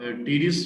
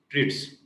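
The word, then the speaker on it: Treitz: इसको आप टीरिड्स भी पढ़ सकते हैं, या बाज लोग जो है वो इसको दोनों टी को स्किप करके रीस भी पढ़ते हैं। तो ये आपकी मर्जी है, स्पेलिंग आपने याद रखनी है, लिगामेंटम ऑफ। आप हम लोग नॉर्मल जो प्रोनाउंसिएशन, अमेरिकन प्रोनाउंसिएशन की तरफ जाएं तो इसको हम लोग पढ़ेंगे ट्रिट्स, क्योंकि वो किसी चीज को स्किप नहीं करते।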